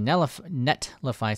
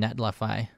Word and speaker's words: Netlify: If I'm using something like Gridsome, or excuse me, Netlify, someone told me the other day I was mispronouncing because I didn't pronounce the T in Netlify.